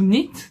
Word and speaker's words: knit: pour celles qui ne parlent pas anglais to knit ça veut dire tricoter on ne prononce pas le cas c'est comme to know